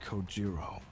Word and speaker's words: Kojiro: a go Jimbo where he deliberately mispronounces my name really bothers me it bothers me so much that the anger boiling inside me gives me the strength to open my mouth once more it's coiro sure bro sleep tight the